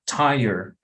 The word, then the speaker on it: tired: Imagínense que fuera como si alguien dijera taller, como un taller de motos o de lo que sea. So dices tired, tired. So that's how you get the pronunciation.